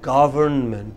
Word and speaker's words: government: said government the government it is government what is it what is it ah government govern meant come break it into syllables and put the stress on the first girl world man together